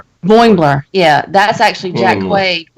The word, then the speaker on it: Boimler: And then also, was it Bombler? I can never pronounce his name. Boimler.